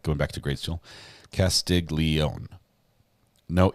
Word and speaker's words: Castiglione: It's sort of one syllable, right? You don't like Castiglione. It's more like Castiglione. It's like a Castiglione thing. You know, if you could clap it, it's just one clap, right?